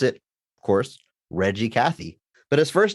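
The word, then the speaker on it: Reg E. Cathey: g e middle initial e Cathy but you pronounce it of course Reggie Cathy but his first name is Reginald which can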